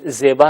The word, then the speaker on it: زیبا: زیبا جسے ہم اردو میں زیبا کہتے ہیں، فارسی میں زیبا تلفظ کریں گے.